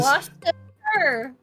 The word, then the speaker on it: Worcestershire: Oh, it is Worcestershire. Worcestershire. There you go. Worcestershire.